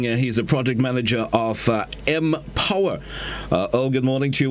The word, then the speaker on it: MPower: So Empower, it's spelled MP, not EMP, right? It's a unique brand. Empower. Yeah. M, capital M, capital POWER, right?